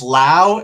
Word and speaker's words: Lowe: this one's Brandon La that's right it's Lao and it's Josh Lowel low the brothers of the Lowe's Brandon's the LA and it's confusing because